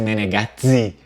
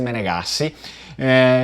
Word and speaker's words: Menegassi: Existe também uma derivação com dois Es, porém a pronúncia vêneta ela nunca vai ser Menegazzi, né, Menegazzi, nunca vai ser assim, sempre vai ser Menegassi.